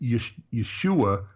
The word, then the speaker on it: Yeshu: They wouldn't say Yeshua, they'd have said Yeshu.